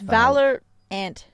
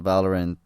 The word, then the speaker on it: Valorant: It's Valorant. It sounds because Valor, and it sounds very similar to some of the names in League of Legends. So Valorant.